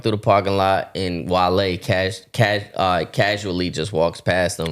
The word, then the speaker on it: Wale: And then everybody in the chat is saying, Wale. But him not knowing Wale, he don't know how to say the name. So he says, wait, Wally? Wally. He's like, Wally?